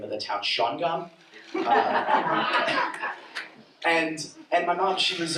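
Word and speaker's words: Shawangunk: I know how to pronounce the name of the town, Shawangam.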